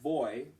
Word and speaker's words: voy: that are being presented when you have a v in Spanish you pronounce that like a b and so it's like yo boy and so voy if you said your